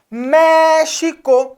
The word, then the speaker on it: México: México. Então, o mé é a sílaba tônica, está acentuada.